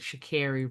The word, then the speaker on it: Sha'Carri: Sha'Carri Richardson.